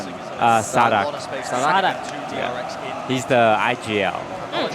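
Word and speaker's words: Saadhak: How do you pronounce this guy's name? Sadak. Sadak.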